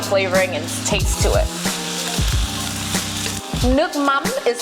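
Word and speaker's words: nước mắm: a more Umami flavoring and taste to it nuk m is how you say fish sauce in vienamese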